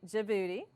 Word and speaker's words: Djibouti: some of my students say it with me Djibouti then we've got Somalia the Horn of Africa